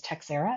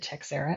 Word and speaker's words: Teixeira: school so he introduced himself as teera and I have adopted techera ever since and it was that darned New York Yankee player Mark to Shar that got everybody in the world to know how to say it the right way so people are correcting